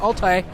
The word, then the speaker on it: Altai: At least I think that's how it's pronounced. Altai.